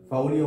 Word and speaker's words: polio: சரியான உச்சரிப்பு ஃபவுலியோ, ஃபவுலியோ மையலைட்டிஸ். இதோட முன்னாடி இருக்கிறத எடுத்து போட்டு தான் போலியோ போலியோன்றோம். இளம்பிள்ளை வாதம் ஃபவுலியோ மையலைட்டிஸ் is calling S ஃபவுலியோ. In local slang we are calling as போலியோ.